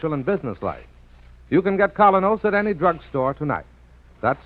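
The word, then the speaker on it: Kolynos: Colinos is a high polishing toothpaste.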